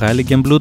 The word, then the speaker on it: Heiligenblut: Αυτό εδώ είναι το Hailing και Blue. Είναι από τα πιο όμορφα μέρη εδώ. Ειδικά αυτός ο ναός εδώ είναι σήμα κατά το. Από το Highlen Blue, όπως προφέρεται σωστά, ξεκινήσαμε ξανά την ανάβαση στο πάσο.